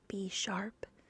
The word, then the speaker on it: Bisharp: Bineckle, Bisharp, Blazive, what? Okay, I'm going to try that again. Blaziphilon, Blastoise, I know that one. Blaziken, Blipbug, that sounds dirty. Oh, is it pronounced B sharp?